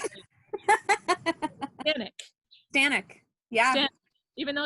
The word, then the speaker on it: Staniec: Staniec. Staniec. Yeah. Staniec. Even though it's Staniec.